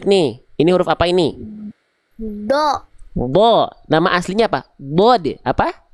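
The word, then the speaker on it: ضاد: Do. Do.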